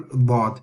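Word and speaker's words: ض: If you are touching only the front part of the tongue, then this is not dad, and the sound of the dad will turn into dha, or a cross between a dal and a dad. But we need to have a full dad. It's a heavy sound again.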